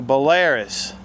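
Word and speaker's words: Belarus: I'm going to call it a Bellarus. Some people say it's a Bolaris.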